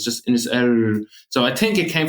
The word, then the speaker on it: Inisheer: in the middle of in our dialect we don't pronounce the h sound so it's just in his air so I think it